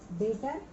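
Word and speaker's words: debtor: Trade receivable में दो आ जाते हैं, डेटर, ठीक है, इसमें बी साइलेंट होता है, डेप्टर होता है, इसको डेटर पढ़ते हैं हम, और बी आर।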